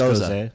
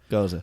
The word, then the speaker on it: Gose: Is pronounced Gose. Gose? Gose.